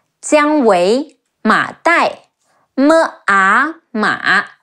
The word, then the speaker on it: Jiang Wei: Ang Cang, Zhou Cang, Jiang Wei, Ji Yi Ang Jiang, Wu Ei Wei, Jiang Wei, Ma Dai, Me A